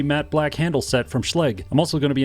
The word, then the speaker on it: Schlage: number thing that's cool now before you tell me that schleg is not pronounced that way guess what it is they're a sponsor of